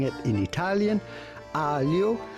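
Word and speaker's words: aglio: pronouncing it in italian alio which means garlic the g is silent so pretty much ignore it in this case and simply say alio alio e meaning end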